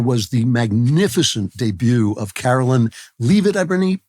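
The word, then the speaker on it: Karoline Leavitt: the magnificent debut of Carolyn L it I believe she pronounces her name Carolyn lit who is the youngest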